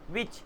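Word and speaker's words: which: विच, H silent है, डब्ल्यू आ गया।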